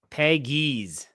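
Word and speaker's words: Pegues: Peggies is how you say his okay. name. Peggies. JJ Peggies. Okay. Peggies, yeah. So Peggies. I was close, but yeah. I was wondering how that U worked into the equation.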